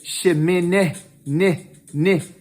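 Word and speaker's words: שמיני: sound it's an e so when i say shi min ni if i want to make if i put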